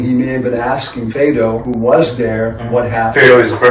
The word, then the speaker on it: Phaedo: I know that was the pronunciation. Phaedo.